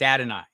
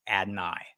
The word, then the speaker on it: Adonai: So it's Adonai is how Adonai says it, but AD works better. It's Adonai is how I've heard him say it.